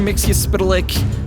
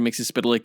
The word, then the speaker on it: Mxyzptlk: I think I'm saying Mixie's name right. I've heard it a number of different ways, but that's the pronunciation I remember from the Superman90s cartoon in which Mixie made a few appearances voiced by Gilbert Godfrey.